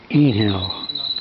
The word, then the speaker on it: Einhell: on our own, and it's called uh inhale. Now, forgive me if I've I pronounce that wrong. It's I believe it's Ger Yes, it's German designed.